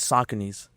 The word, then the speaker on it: Saucony: said it wrong though. We say Saucony. Saucony's or Saucony's, yeah. I think Saucony is the official name.